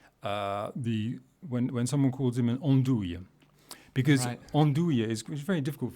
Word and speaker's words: andouille: Yeah, andouille, especially because of the sound, andouille. So how we pronounce andouille?